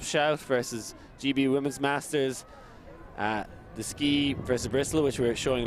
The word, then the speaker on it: Deskeagh: Yeah, the EAGH, I've been told, is pronounced Deskeagh, as in Clonyskeagh, an area in Dublin.